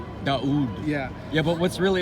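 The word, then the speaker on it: داود: So I'm telling you, David in Arabic is pronounced Daoud. Daoud.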